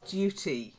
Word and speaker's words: duty: first one duties and Duty it's not like dirty dirty means Mucky you know we've got some dirt on your hands in duty is something you have to do so duties and Duty